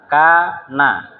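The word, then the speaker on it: كان: Kalau tulisannya begini ya, maka bacanya adalah kana.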